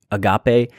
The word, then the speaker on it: agape: Sometimes you may have been accustomed to hearing agape. Use it however you want. I think the actual pronunciation is agape.